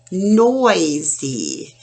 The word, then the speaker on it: noisy: Oi, noisy. Now, another lesson we'll do down the road, Y at the end of a two-syllable word says the E sound, like in baby, party, noisy.